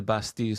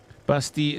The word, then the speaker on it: Bastille: Bastille is pronounced Bastille. Well, it actually isn't, depending on where you're from. If you go to a French person and ask them how to say it, they will say it's Bastille, or French Canadian, because they don't pronounce the L like that, as far as I'm aware.